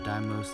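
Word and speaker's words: Deimos: only two actually i'm just gonna uh visit daimos and phobos that's how you pronounce it and uh mars but um then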